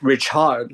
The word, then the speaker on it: Richard: my name you know no it's not good it's Rich hard like what do you